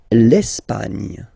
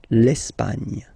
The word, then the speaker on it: Espagne: L'Espagne. L'Espagne. Okay, don't insist on the final E because basically it's not pronounced. L'Espagne. Nya, nya, nya. L'Espagne.